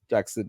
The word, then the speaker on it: Jackson: The way I said his name just now there, Jackson, right? So that's the way he said it in I think Sky Sports did Yeah, the uh the pronunciation.